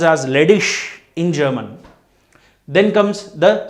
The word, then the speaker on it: ledig: Then IG, ending IG will be spelled as ish. LEDIG pronounced as ledish in German.